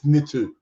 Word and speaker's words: Nitu: Nitu. I keep wanting to say Nintu. There's a deity, ancient Babylonian deity, Nintu. So I'm kind of getting mixed up. No, it's Nitu.